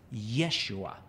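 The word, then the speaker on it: ישוע: The word Joshua in Hebrew is pronounced Yeshua, or in Greek is pronounced Jesus.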